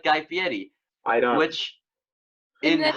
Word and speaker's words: Fieri: You look like Guy Fieri."